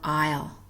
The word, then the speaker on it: isle: L in those words silent s debris or Isle not hearing the s in those words silent T ballet buffet